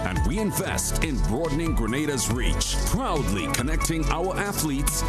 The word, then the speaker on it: Grenada: So, today, like we Germans say, we are in Grenada. But I heard in English it's called Grenada.